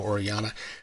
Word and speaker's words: Orellana: It's written and illustrated by Jesus Orellana. I think that's how you say it. He's got the double L's, and obviously it's a Latin name, so Orellana.